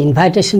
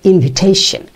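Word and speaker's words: invitation: serious ভুল আছে এই ইনভাইটেশন হলো ইজ ওয়ান of those mistake ইনভাইটেশন এটা হবে ইনভিটেশন উচ্চারণগত আরো দুই একটি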